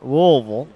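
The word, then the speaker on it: Louisville: those guys were driving up from louville louville louville pronounce it right and uh they were on their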